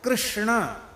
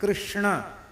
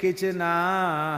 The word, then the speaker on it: कृष्ण: है क्यों कहेंगे क्यों अब देखो कृष्णा यह शुद्ध उच्चारण कृष्णा यह शुद्ध उच्चारण अब इतने प्रयास पूर्वक कौन बोलता है बंगाली बहुत अच्छा कीर्तन करते हैं पर कते हरे कचना हरे कचना कचना किच